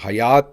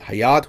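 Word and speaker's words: Hyatt: इसलिए इसको प्रोनाउंस जो है वो हायत करते हैं। हयात नहीं करते।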